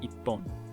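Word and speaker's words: 一本: The ichi and hon are running together to make ippon.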